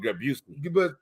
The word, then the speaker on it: Busey: How you pronounce it after Gary? Oh, Busey.